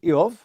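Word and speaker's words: איוב: If you're curious about how they pronounced Job, it was Eov back then.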